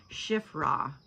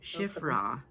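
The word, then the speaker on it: Shiphrah: whom was named Cifphra, Cifphra, which means fair or beautifully decorated. Oh yeah, I even wrote down how to pronounce it. It's Shiffra. Shiff Shiffra.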